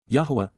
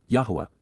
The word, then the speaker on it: Yahowah: Yahowah, Yahowah, the proper pronunciation of Yahowah, God's personal and proper name